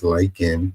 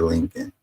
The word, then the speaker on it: Laken: It's Laken, and he said Lincoln.